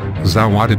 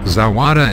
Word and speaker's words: Zawada: to drink some tea the water rhymes with Nevada there are people in